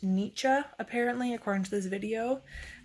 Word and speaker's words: Nietzsche: And then I got Beyond Good and Evil by Friedrich Nietzsche, and I think that's how you pronounce it. So that is not how you pronounce it. I just looked it up. It's pronounced Nietzsche, apparently, according to this video.